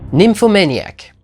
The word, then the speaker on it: Nymphomaniac: meilleurs film de l'année nymphomaniac oui je le prononce avec l'accent parce que du coup c'est le mot anglais donc faut le prononcer à l'anglaise euh le dernier film